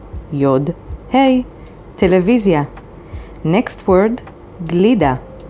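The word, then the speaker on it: גלידה: vav yod zain yod hey television next word glida spelled with gimel lamed yod dalid hey and means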